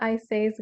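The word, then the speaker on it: Isais: all hydrated hearing officer so it's called arcelia i says gastelum and it's spelled a r c e l i a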